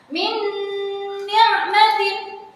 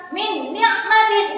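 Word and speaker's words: مِنْ نِعْمَةٍ: Tidak boleh dibaca jelas seperti idhar. Min ni'matin itu udah salah ya. Jadi harus dibaca dengan memasukkan dengan cara mendengung. Ada dengungannya.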